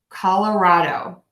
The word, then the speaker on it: Colorado: real words so again call at the beginning that really nice short schwa kala raw dough Colorado Colorado Colorado Colorado Colorado